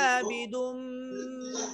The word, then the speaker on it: أعبد: أعبد প্রথমে হামজা, তারপরে আইন। হামজাটা হচ্ছে কণ্ঠনালীর শুরু থেকে উচ্চারণ করে সাথে সাথে আইনের সুকুন কণ্ঠনালীর মাঝখানে চাপ দিতে হবে। আ'বুদ, আবুদ এখান থেকে আবুদ আ'বুদ।